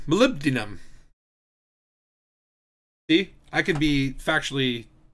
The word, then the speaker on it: Molybdenum: Okay, now I can pronounce it correctly. Molybdenum.